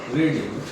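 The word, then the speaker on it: read: English is नॉट be spelling वही होती है बोला रेड जाता है आई एन ई रेड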